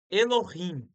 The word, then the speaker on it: Elohim: que se escreve ok complicado né E se pronuncia dessa forma Elohim tá essa palavra é a que tá aqui